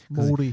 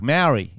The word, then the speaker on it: Māori: Māori. Because all the white Australians were like, Maori. It's Maori. They're like, no, it's Māori. I'm like, what? Sounds like mouldy.